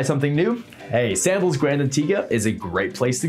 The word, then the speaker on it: Antigua: the island of Antigua yes pronounced Antigua there you have Sandals